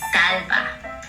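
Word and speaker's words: d'Alba: to pero ako dati it's a Korean skin care brand and if you read it in Korean it's Dalba and my all time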